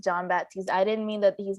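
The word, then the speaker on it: Jon Batiste: saw two of these movies i think it's john baptiste from stephen colbert uh i think without knowing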